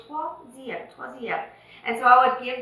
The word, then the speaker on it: troisième: If you look at this word, it does not have the letter W in it. But when you produce it with your vocals. When you pronounce it, you say troisième.